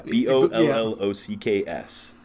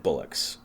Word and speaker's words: bollocks: it Bullocks or yeah b o l l o c k s and I've always heard pronounced bollock yeah well it depends on your accent I said Bullocks uh bollocks I guess